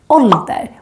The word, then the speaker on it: ålder: But then we have another word, ålder, with two consonants coming after the å, and therefore it becomes short.